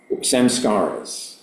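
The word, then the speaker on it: saṃskāras: Samskaras, I guess, is the Mahayana Sanskrit pronunciation.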